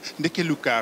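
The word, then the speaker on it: Ndeke Luka: Je vais vous laisser le prononcer. Nekeluka, radio Nekeluka.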